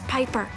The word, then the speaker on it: Piper: The name's Piper. Rhymes with Viper.